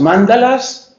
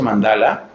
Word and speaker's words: mandala: Lo mío es el ateísmo, o lo mío son los mantras, o lo mío son las mandalas. Hace poco aprendí que no se pronuncia mandala, se dice mandala, por si no sabían.